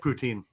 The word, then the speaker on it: poutine: rudy uh i don't know where i get poutine am i saying it right yeah yeah i